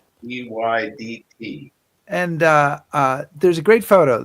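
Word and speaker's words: Rheydt: Readied. Reyddt.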